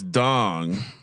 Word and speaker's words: Ndong: I assume the N is silent. Thomas Dong. The 6'10" out of Canadian out of Montreal. Wait, hold on. Wait, read that guy's name again. It's it's spelled Ndong, but I'm pronouncing it Thomas Dong.